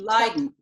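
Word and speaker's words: Leiden: Netherlands I couldn't couldn't lien lien and it's spelled l e yde n was the way they spelled it in the 15 1600s today it's spelled l i d n it's about halfway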